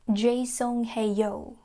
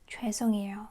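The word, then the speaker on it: 죄송해요: So, the pronunciation is very different from um English. It's not jaesonghaeyo, it's choesonghaeyo. Choesonghaeyo.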